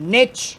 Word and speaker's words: niche: little little Nook or a niche or Americans As Americans would say a niche a niche skull Niche a